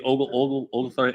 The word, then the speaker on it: Oglethorpe: Is that how you pronounce it? The Oglethorpe H. Yes.